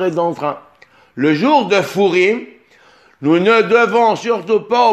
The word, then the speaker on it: Purim: Il est lu Furim. La prononciation de cette lettre est légère, rafée, comme affaiblie.